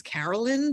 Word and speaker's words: Caroline: Her name is Carolyn, but it's spelled Caroline.